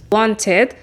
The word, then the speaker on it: wanted: Al final, esto ocurre cuando el verbo termina o en la letra T o en la letra D. Cuando ocurre esto, no puedo ni pronunciarlo ni como T ni como D, sino que debo pronunciar id.